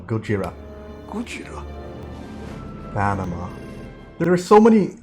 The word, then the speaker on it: Gojira: suffering from shell shock that's like the original pronunciation for godzilla gojira panama there are so